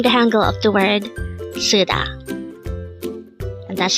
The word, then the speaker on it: 쓰다: word number 327 sud this is pronounced as a two syllable word the first syllable is Su second syllable is Da pronounce it with me suda suda the word suda is